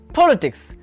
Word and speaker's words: politics: For example, the word politics. Here, politics. The stress falls on the first syllable.